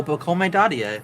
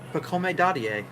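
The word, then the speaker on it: Pacôme Dadiet: I still never know how to pronounce this guy's name. Oh, Pacome Dadier. I'm a Knicks fan. That's my guy. Okay, Pacome what? Pacome Dadier.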